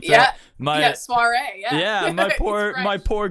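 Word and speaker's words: soirée: read the book you it's soiree yes well hopefully when we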